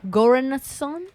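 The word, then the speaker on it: Göransson: Spell it. G-O with the 2 dots on top. Oh, shit. R-A-N-S-S-O-N. Goranson?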